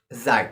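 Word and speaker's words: Sie: youu but this time you can pronounce as Z Z the spelling of this word is s i e s with uppercase letter Z and due to definitely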